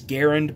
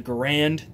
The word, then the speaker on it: Garand: And again, the proper pronunciation is Garand, but in America we call it the Garand, the M1 Garand, and that's what I'm going